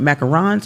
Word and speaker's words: macaron: Now do they call it macarons or macaroons? Macaron. Macaron. Macaron. Macaron. Yes. Okay. That's the actual uh correct pronunciation of it is macaron.